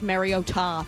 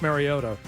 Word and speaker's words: Mariota: Yeah, it we've been calling him Marcus Mariota forever and then the other night they just decided that it's Mario Ta.